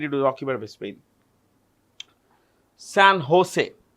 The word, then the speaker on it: San Jose: San Jose. The J in Spanish is pronounced with an H.